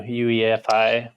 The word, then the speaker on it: UEFI: you pronounce it because I pronounce it I do all the letters like you do UEFI instead of UI UE ufi it's the very first